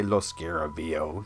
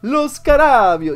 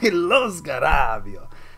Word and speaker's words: Lo Scarabeo: I'm determined never to say Lo Scarabeo. That's not how you say it. I don't know why everyone says that. They're Italians, man. You gotta have some inflection. You gotta Lo Scarabeo. You gotta use your hands.